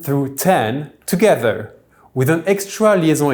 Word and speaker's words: dix: The X will be pronounced as a double S, but will be pronounced as a Z if there is a liaison with a word starting with a vowel.